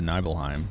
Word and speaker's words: Nibelheim: is very close to Nibelheim or is it nibbleheim it's nibbleheim right at least that's how they're pronouncing it in this Mojo and